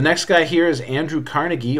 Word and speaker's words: Carnegie: The next guy here is Andrew Carnegie, or sometimes you hear his name pronounced Carnegie.